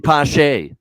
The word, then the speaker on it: Pache: However you pronounce it? Christian Pache.